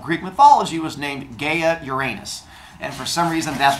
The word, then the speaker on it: Uranus: Gods to be born I am going to pronounce them the Greek way which is Gia and Uranus but I've been teaching Junior High a long